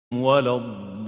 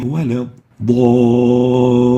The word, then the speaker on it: ولا الضالين: So a dad, which is one of حروف التفخيم, خصادات قذ, followed by an alif. Both of them has tafkheem, so there is tafkheem of the dad and tafkheem of the alif. We say ضا, and we don't say ضا, but ضا, ضالين. Now we'll take examples of attenuation of the alif.